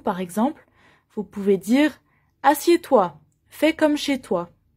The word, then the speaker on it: assieds: une chaise par exemple assieds toi attention on ne prononce pas le d et e s assieds toi pour vous asseyez